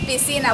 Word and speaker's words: piscina: Es piscina, vos dijiste piscina. La vez pasada en ¿cómo el video es? Anterior ¿cómo nos es? Comentaron que no se dice pic, es piscina.